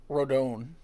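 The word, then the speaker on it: Rodón: like a Godzilla character he's not Japanese you know I think he's of Cuban desent so he would say it like rodone not rodon okay I don't know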